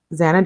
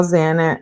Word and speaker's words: Xana: She tells a story of Zana introducing herself to the five, explaining that her name is pronounced Xanax without the X. How Zana how Zana was a light and energy source in every room.